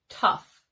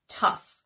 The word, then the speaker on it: tough: Friday was incredibly tough some words that follow the same spelling pattern and that rhyme are rough and enough and then